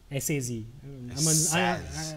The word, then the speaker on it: Saz: S-A-Z. I hope it's pronounced Saz. Very similar to this Batman villain called Victor Zaz.